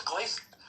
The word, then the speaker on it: Glasgow: First, let's work on how the locals say it. It's Glasco. I heard it's Glaz.